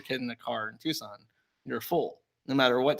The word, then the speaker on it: Tucson: So, it's not like Tucson, Arizona, where or Tuscan or Tucan I don't know how to pronounce the name. I got bullied for it last time. Tucson. Tucson.